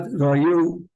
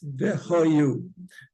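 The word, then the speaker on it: והיו: And v'hayu, not vayu. A lot of people suggest vayu advar. Yeah, it's v'hayu.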